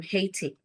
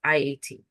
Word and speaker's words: Haiti: And one really popular, really nice girl, her name was Marie, and she was from Haiti, which is, I think, is actually pronounced Iyati. So she spoke French and English.